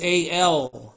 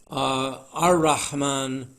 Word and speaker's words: Ar-Rahman: But if you're replicating the sound of the words, then you want to shift that L to R, as we have it here, Ar-Rahman, Ar-Rahim. That's the right way to say it.